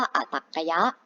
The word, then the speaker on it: อตรรกยะ: อย่าง ข้าง หน้า ค่ะ อ่าน ว่า อ่ะ ตรรกะ ยักษ์ ค่ะ อัน นี้ คือ จำนวน ที่ ตรง ข้าม ตรง ข้าม เรา เรียก ว่า อตรรกยะ อาทิ เรา จะ มา